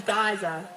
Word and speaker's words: geyser: For some of you who pronounce it geyser, the correct saying is geyser.